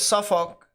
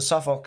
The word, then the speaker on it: Suffolk: There, they pronounce the uck a little bit more. But if you go Olk, I know some people that do that too. So it's either or. It's either or. It can be used either or. Just don't emphasize the all for the most part if you're looking at it, but Suffolk. I've heard the uck mainly pronounced as well.